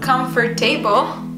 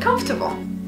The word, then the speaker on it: comfortable: I've heard the word receipt many times, but we actually pronounce it recipe. Let's say it together. Recipe. Recipe. Done. Number five, comfortable. It's not comfortable, but comfortable.